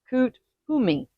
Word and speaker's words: Kuthumi: Confucius, Saint Germain, and Kut Humi. Okay. Some also pronounce it just all as one word, which is Kuthumi.